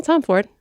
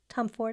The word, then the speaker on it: Tomforde: Yeah, Tom Ford. Tom Ford. I didn't know if we No, I think I don't say E. I think the E is silent, but H.